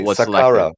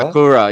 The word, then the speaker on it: Sakura: Just the way you pronounce it almost makes made it sound like sakura.